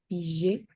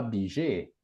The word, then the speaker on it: billet: dire ce mot, Billet, bijet, ça c'est comme bijou, bijou, bijet, mais c'est pas bijet. Ça c'est je, mais le son c'est pas je, c'est y.